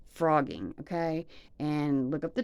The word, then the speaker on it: phrogging: It's called frogging, okay? And look up the term. It's spelled Phrogging. Frogging, like a green frog, but with a Phro.